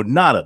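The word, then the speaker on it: Ngata: it gotta nada Oh nada the G is silent like allotted nada Joe nada from Folsom California Tyler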